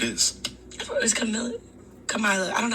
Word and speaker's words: Kamala: I thought it was Kamala.